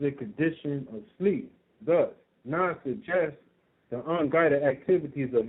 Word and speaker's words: Nod: the land that was called Nod, pronounced Nud, which means wanderer.